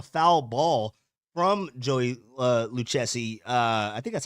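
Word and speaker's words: Lucchesi: they signed Joey uh luchessi right luchessi that is how you say the the last name uh left-handed pitcher he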